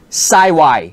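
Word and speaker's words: 幸: This kanji is well, there are quite a few pronunciations for this kanji, but Saiwai, that's the way they pronounce it.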